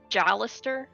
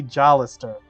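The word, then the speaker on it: Jalester: I don't know oh here it is jalis it is apparently jalis okay rhymes with ballister yeah jall so I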